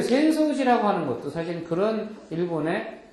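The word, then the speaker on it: 浅草寺: 그래서 그런 습성이 있어갖고 아사쿠사라는 지역에 있지만은 아사쿠사를 별도로 따로 읽어서 센소라고 읽는다는 거를 기억하시면 편할 것 같아요. 센소지 또유.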